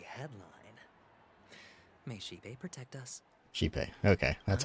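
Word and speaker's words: Xipe: Shipe. Okay, that's how they pronounce it.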